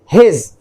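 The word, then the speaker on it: he's: दोनों का जो प्रोनाउंसिएशन है हिज, राइट.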